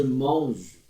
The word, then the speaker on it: mange: Je mange bien. Mange. Termina no G aqui, não pronuncia o E.